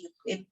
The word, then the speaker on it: Euclid: Kalau ini orang Yunani ya. Yunani zaman dulu banget ya dibacanya jadi Euclid.